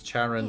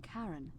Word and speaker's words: Charon: The name you heard wasn't Karen. It was C-H-A-R-O-N. As in Charon, the ferryman of the dead.